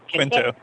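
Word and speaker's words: Quinto: Chris Tine to um Zachary, how do you pronounce his last name? Quintto.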